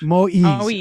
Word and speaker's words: Moïse: Moïse, am I pronouncing his name? Moïse. Moïse.